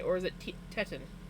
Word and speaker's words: Teton: Or is it Tetan? It's Titan. I can never I can never say it right. Teton.